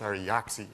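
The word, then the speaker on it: Ari Jaaksi: Ari Jaksi joined us from, I always pronounce his name wrong, it's Ari Jaksi.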